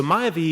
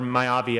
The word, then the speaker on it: Mayavi: it looks like so mayave is uh or mayavi I guess is how it should be pronounced I'm never sure on